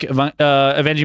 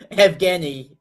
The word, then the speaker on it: Evgeny: How do you say it? Evgeny. It's Evgeny. exactly as it's written.